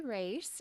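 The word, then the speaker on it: Racz: are about me well my name is race and it is pronounced race that's a big Hot Topic question I well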